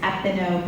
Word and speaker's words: Epineux: I'm on there as Velvet Thorn, or my production company is Epino Productions. That's spelled EPINEUX. I can't spell. It means thorny in French.